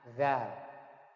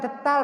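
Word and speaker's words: ذال: Nah, zal. Nah, di sini ada ini ya. Ini apa ini? Detal. Ini bukan detal bacanya, bukan detal, ini detil. Ini bacanya zal.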